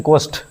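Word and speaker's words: ghost: एक्साइलेंट होता है यहां पे। इसको बोलते हैं घोस्ट।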